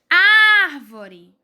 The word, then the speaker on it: árvore: Árvore. É o ar, não é? Árvore. É o ar. Então, na palavra árvore, o ar é pronunciado com mais força.